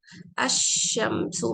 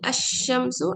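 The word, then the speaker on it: الشمسُ: Now, when pronouncing sun letters, lam of alif lam is silent. अशम्सु मैं बोलूंगी, अल कमरों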